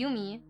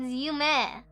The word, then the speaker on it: Yume: Oh, they called me Yumi. Like, oh, Yumi, and I'm like, it's Yume.